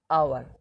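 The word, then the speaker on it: hour: যেমন ধরো dash আওয়ার, এখন দেখো এখানে শুরু হচ্ছে এইচ দিয়ে, এইচটা কিন্তু কনসোনেন্ট আওয়ারের, কিন্তু এখন উচ্চারণ করছে আওয়ার, আওয়ার, ও উচ্চারণ হচ্ছে আওয়ার, ও, ঠিক আছে, এরা কি বসবে? অ্যান বসবে, অ্যান আওয়ার।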